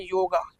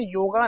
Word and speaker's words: योग: जिस भी वर्ड का वेस्टर्नाइजेशन होता है उस वर्ड में ए लगा देते हैं। अंग्रेजों की एक बुरी आदत है, जैसे कि राम बिकम्स रामा, कृष्ण बिकम्स कृष्णा, उपनिषद बिकम उपनिषदा, ऐसे ही योग बिकम योगा। पर सही प्रोनाउंसिएशन है योग।